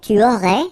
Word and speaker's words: aurais: Tu aurais, you don't pronounce the final S.